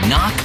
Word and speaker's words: knock: letter in kite and a silent k is also the first letter in knock over if you don't